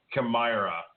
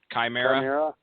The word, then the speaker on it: Chimera: like it was um camira where they were if i pronounced that right what's the actual pronunciation for camara chimera chimera okay i was close so chimera was boring